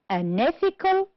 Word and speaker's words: unethical: The first one, first syllable, practical, honest, and product. On the second syllable, we have the word conclusion, direct, unethical, produce. The words that are stressed on the third syllable are imitation, economical. And the word, we have only one, which is stressed on the fourth syllable, is responsibility. Good.